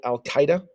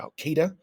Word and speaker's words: Al-Qaeda: They were called Al-Qaeda, or Al-Qaeda, depending on what part of the United States you're from and how you want to pronounce that.